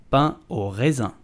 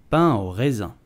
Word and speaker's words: pain au raisin: So, how do you pronounce it in French? You would simply say pain au raisin. Pain au raisin.